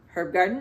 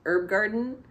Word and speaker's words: Herb Garden: It's very hard for me to say that H sound at the beginning of a word that is normally pronounced herb garden where I live, but I'm pretty sure she pronounces it herb garden.